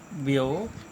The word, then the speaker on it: व्यवसायात्मिका: आइए, the Gita says व्यवसायिक, थोड़ा सा यहाँ पर इसको प्रोनाउंसिएशन क्लियर करना है, व्यवसायात्मिका बुद्धिर एका। ठीक है, ये गीता में कहा गया एक संस्कृत का श्लोक है। ठीक है, व्यवसायात्मिका बुद्धिर एका, इसका मतलब